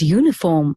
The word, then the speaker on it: uniform: at this sentence although the word uniform starts with a vowel the sound at the beginning of the word is you the word therefore begins with the consonant sound so the article er